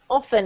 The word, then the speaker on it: often: Often, exactly. Actually, for some weird reason, you can say often. That's acceptable. You can choose your pronunciation for this.